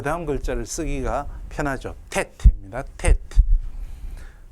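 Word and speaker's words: טית: 텟. 텟 이렇게 표기하셔도 되고 텟라고 읽으시면 됩니다.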